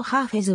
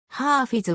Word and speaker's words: ハーフェズ: はイランの詩人ハーフィズは古典的な読み方ハーフェズは現代ペルシア語的な読み方であり世界的にはどちらも広く用いられている日本では黒